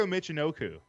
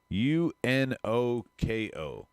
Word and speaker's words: Michinoku: Taka Michinoku.